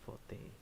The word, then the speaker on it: forte: meal like this cooking really isn't my forte forte oh that's how you pronounce it for day what the heck scam what did i cook